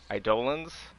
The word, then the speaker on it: Eidolon: I think the community wanted his void damage to affect Eidolons. And I know I'm actually pronouncing that correctly.